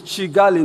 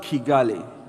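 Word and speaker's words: Kigali: Uh Naramuta naramut aa is chigali not kegali. It's chigali. I'm sure we were told yesterday by Rwans that is pronounced chigali not key chigali.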